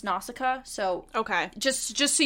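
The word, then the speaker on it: Nausicaä: love that too in the English version It's pronounced nausicaa so okay just just so you're aware yes because I watched the Japanese version and it was now ushka so that's that's where the variation comes in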